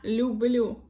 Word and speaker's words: люблю: Я люблю. Я люблю. Here, l becomes softer because of the second vowel, u.